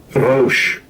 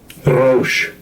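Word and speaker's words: רֹאשׁ: Rosh. Rosh.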